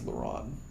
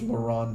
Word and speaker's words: LaRon: his first name is LaRon yeah and it looks like it's pronounced the same way as LeBron just without the B yeah so his name is Laurent James